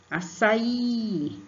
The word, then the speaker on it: açaí: Açaí, açaí. Somente o I vai ser acentuado a sílaba forte.